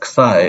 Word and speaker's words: psi: So I am also pronouncing as this, as psi, and I know some other people pronounce it as xi or whatever, but I'm just going to say it this way.